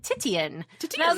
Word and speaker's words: Titian: It's Titian. I've only ever seen it in Nancy Drew because they described her hair as Titian 3 different times.